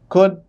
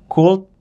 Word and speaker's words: could: yang pertama kata-kata seperti could would itu shouldeh should ya kan nah Kebanyakan kalau orang Indonesia bacanya cult ya kan W sama SH Yang bener gimana tuanya biasanya l-nya itu tidak dibacaah iya jadi diskip tuh